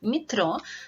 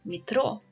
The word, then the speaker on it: метро: It can be pronounced as E sound, like in metro. This is because letter E is not stressed, because the stress in this word follows on the last syllable, metro. And it can be pronounced